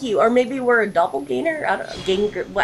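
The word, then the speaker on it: Doppelgänger: Or maybe we're a doppelganger? I don't know. How do you say it? Doppelganger.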